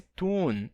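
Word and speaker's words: tūn: Esse tune é a palavra town, certo? Town é uma cidade. Então, on Englalande is little town. Na Inglaterra há uma pequena cidade. Então, town é town, certo? Esse U longo se torna AU.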